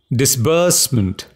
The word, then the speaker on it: disbursement: the word is disbursement stress on the second syllable disbursement what does it mean